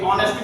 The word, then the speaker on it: honest: ये ऑनेस्ट भी है, बच्चे इसे हॉनेस्ट हॉनेस्ट पढ़ते हैं, वो हॉनेस्ट हॉनेस्ट गलत है। हम इसे ऑनेस्ट पढ़ेंगे क्योंकि इसका प्रोनाउंसिएशन क्या है, आ से होता है।